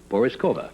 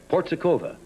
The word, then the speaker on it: Porizkova: I was I was accused a couple of times tonight of mispronouncing your name which I may have done it's Pauline it's a very hard name to pronounce everybody has Forrest Cova what did I say before Peter port Zhukova yeah that's a small harbour